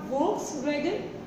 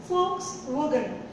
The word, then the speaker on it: Volkswagen: No, it is not Volkswagen. It is Volkswagen. Volkswagen. Volkswagen. See, Volkswagen is a German car. And folk stands for people. It is people's car. So the correct pronunciation is Volkswagen.